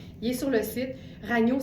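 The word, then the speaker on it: Ragno: Il est sur le site Ragnu. Ça s'écrit R A G N O comme ça se prononce et on l'a en gris.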